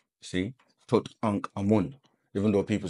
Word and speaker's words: Tutankhamun: You're saying Tutankhamun, like, but that's again a triad being, Tut, Ankh, and Amun. See? Tut, Ankh, Amun.